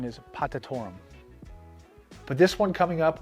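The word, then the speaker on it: potatorum: myself is i was calling this uh agave potato rum in my earlier video there's cuprietta there's in a cadence there's potato rum totally not what it's uh how it's pronounced the correct pronunciation is patatorum but this one coming up was incredible i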